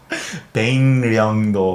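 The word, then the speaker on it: 백령도: I- it's the Korean pronunciation system- Oh … where if the kiuk comes before the ril- Yeah … the kiuk becomes a iyun, iyun. Iyun. Oh, Baekryeongdo. Oh, Baekryeongdo. Baengnyeongdo. Baengnyeongdo Oh.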